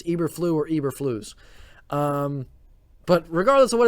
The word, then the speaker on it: Eberflus: what's pronounced his name i think it's eberflus um i know for certain it's not ibra floss i've heard that a few times i know it's not that i know it's eberflu or eberflus um but regardless of